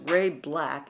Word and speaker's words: Ray BLK: good for her now Ray BLK which is pronounced Ray black is a musician and she came in in